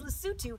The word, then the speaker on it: Lesotho: use it first - so the country's lassoo - and they speak Sousou - so just switch the letters the L and the s so interesting so dumela